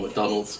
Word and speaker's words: McDonald: McDonald's apartment is sure McDonald's correct correct pronunciation right just like the burgers and I'm going to